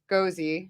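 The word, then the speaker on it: gose: some of our birdfish gozi. If I pronounce that right, Scarlet gozi. It's probably not. It's like ghost. No, it is. It's ghost. It's not gozi.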